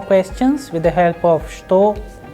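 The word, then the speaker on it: что: please remember the word which means what is pronounced as shto however we start when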